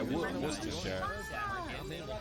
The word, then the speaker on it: Worcestershire: But yeah, Worcestershire. You have to just get used to the fact that it's just like one syllable for the whole of the word.